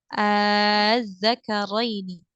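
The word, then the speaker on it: الذَّكَرَيْنِ: huruf zal di sini dibacanya menjadi panjang 6 harokat. Az-zakarain. Jadi kita panjangkan dulu, sempurnakan madnya sepanjang atau sebanyak 6 harokat, baru kemudian dimasukkan ke dalam tasydid.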